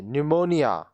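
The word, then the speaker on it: pneumonia: knowledge ज्ञान knowledge ज्ञान यह पीस साइलेंट निमोनिया फेफड़ों की सूजन निमोनिया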